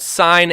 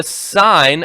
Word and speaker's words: sin: two more ratios called sine and cosine abbreviated si N and cos sin coughs they're actually but they're still pronounced sine and cosine but when you're doing